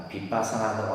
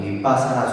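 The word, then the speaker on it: 위빠사나: 빗바사나라고 하고, 우리가 이제 뭐 윗바사나라고도 발음하기도 하는데, 따라합니다. 윗바사나 수행.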